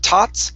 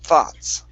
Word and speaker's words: thoughts: Now uh your th make sure that you're using your tongue between your teeth to pronounce the th here Instead of tots it's th thoughts Thoughts There you go